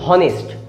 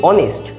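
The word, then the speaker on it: honest: সেরকম এটার ক্ষেত্রে অনেস্ট, আপনি একবার বলে দেখুন হনেস্ট, দেখবেন আপনার নিজেরই একটা অস্বস্তি লাগবে যে উচ্চারণটা হচ্ছে না ঠিকঠাক, কিন্তু অনেস্ট উচ্চারণটা ঠিকঠাক হবে।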